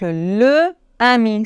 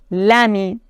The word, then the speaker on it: l'ami: Par exemple, le ami, c'est difficile à prononcer, on doit dire l'ami. La idée, difficile à prononcer, on doit dire l'idée. L'ami, l'idée.